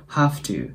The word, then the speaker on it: have to: の粘膜あたりを噛んで V と発音は同じような感じです have to ただ音が濁らないのでの